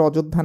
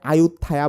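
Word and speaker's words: อยุธยา: এই অযোধ্যা কিন্তু ভারতের অযোধ্যা না, এইটা থাইল্যান্ডের। ইভেন এটার উচ্চারণ যে অযোধ্যা, এটা রিসেন্ট টাইমে করা হয়েছে, আগে এটাকে আয়ুত্থায়া বলা হইতো।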